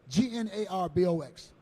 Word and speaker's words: Gnarbox: Gnarbox. Is that? Yep. Yes, I got it, man. That's it. The G is silent. Right. There was no need to put it there.